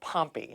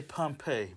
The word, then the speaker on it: Pompey: is it Pompeii or pumpy how do you say your last name I say Pompeii but I've I'm so accustomed to hearing it both ways that I don't even say anything when I hear it well well that's